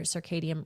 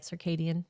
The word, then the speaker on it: circadian: Consistent sleep, meals, and hydration keep your circadium rhythm stable. Am I pronouncing that right? Circadian. Circadian. Circadian. Okay. Isn't there a D in there? Is there a D in there? Circadian.